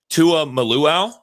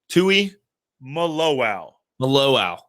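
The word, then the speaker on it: Tuimoloau: you taught me how it's said, but JT Tua Maluau? Tui Maluau.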